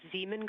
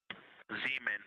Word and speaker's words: Zeeman: Integrity Science, we believe that's Zeeman Crater. Oh, I floated away from the speaker. Say it again, please. We believe that that is Zeeman Crater. Zeeman.